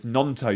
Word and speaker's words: Gnonto: And it's Nonto. You don't pronounce the G.